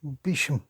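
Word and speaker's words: Beauchamp: married to Joan Mary Bisham which is a funny way of pronouncing B E A U C H A M P which means beautiful field Bisham according to Jana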